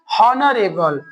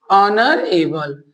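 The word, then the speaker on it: honorable: लोग क्या पढ़ते हैं हॉनरेबल हॉनरेबल नहीं नर एबल क्या होता है नर ऑनर एबल ऑनर एबल ऑनर एबल मैन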